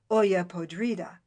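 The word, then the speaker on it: olla podrida: they have that's called Oya Podrida this by the by is a mere rhyme to the eye for in Spanish the I is pronounced like an e and they've not quite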